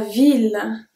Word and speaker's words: ville: The first one is la ville, la ville, the city. And if you pronounce it la vie, when that's mean the life.